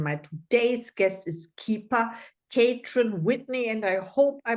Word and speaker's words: Catran-Whitney: today's guest is keeper kaon Whitney and I hope I pronounced your name right tell me about that uh the last name is pronounced Whitney but you were very